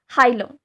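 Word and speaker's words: hilum: Present है यहाँ पे, इसको कहते हैं हाइलम, और हिलम भी किसे कह सकते हैं, कैसे भी प्रोनाउंस करो, हाइलम और हिलम दोनों सेम है।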